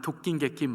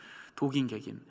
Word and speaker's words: 도긴개긴: 말을 하기도 합니다 도긴개긴 좀게 발음해 독인 개긴 말을 하는데 원래 발음은 독인 객인 이더라고요 독인 객인 도나 개나 똑같다 육을